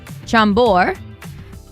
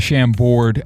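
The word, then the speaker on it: Chambord: My grandma had this bottle of sham board at the top of our downstairs. The D is silent.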